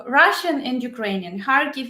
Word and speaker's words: Kharkiv: Kharkiv is Ukrainian, Kharkov Russian.